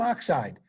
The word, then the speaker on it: oxide: say it right magnesium oxide sodium chloride IDE ends in I rhymes with Tide rhymes with lied didn't spell it the